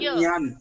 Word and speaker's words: ज्ञान: ज्ञान का actually pronunciation है ज्ञान. Nyan. Nyang, nyang, nyang, nyang, nyang. Glottal है ना, glottal है.